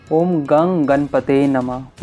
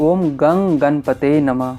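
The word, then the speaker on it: ॐ गं गणपतये नमः: किया जाता है इसी प्रकार किया जाता है ओम गन गणपतए नमः ओम गन गणपते नमः इसी तरह इस मंत्र का उच्चारण किया जाता है इसी तरह आप लोगों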